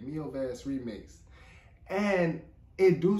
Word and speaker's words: Mil Vezes: the me me okay it's me V that's how you say it me V remix and it do